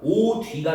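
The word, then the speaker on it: 옷 위: 그래가지고 소리 나는 대로 발음하면 어떻게 된다고요? 오뒤가 되는 거야.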